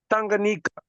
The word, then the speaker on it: Tanganyika: Because look at this word Tanganyika. Yeah. We pronounce TA as ta. We pronounce QA as nga. So I don't know how far that is pronounced.